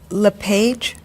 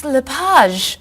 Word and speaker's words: LePage: just a few minutes is your last name pronounced LePage it's Lapage actually oh that's beautiful thank you now is it MS Lapage or mrs.